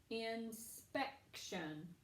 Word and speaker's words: inspection: with a brown now I'm going to read the word inspection inspection very good it goes on that second syllable nice work boys and